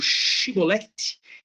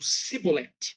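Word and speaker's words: shibboleth: Porque esta palavra os homens de Efraim não conseguiam pronunciar. Então, ao invés de pronunciar ali o shibolet, eles pronunciavam algo como um cibolet, né?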